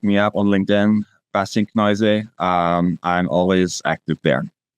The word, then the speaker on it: Kneuse: if you look me up on LinkedIn, Basin Kenoise, um, I'm always active there. All right. And Kenoise is spelled K ne U S E. That's the name, lovely name that I mispronounced at the beginning. Kenoise.